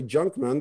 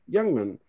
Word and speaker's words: Jungman: So I begged my parents to change the spelling of the name so they don't say Junkman, they say Jungman. I should have put an O there, I didn't. But anyways, I just wanted them to pronounce Jungman correctly, or Jungman, and that's why I changed it to a J.